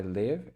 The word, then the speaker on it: live: word is kind of, it depends on how you're going to pronounce this word for the different meanings. So I live and lives. So if it's a plural, so verbs meaning of I live and lives. So it pronounces the different ways you pronounce it. So I live here, she lives here, but a life.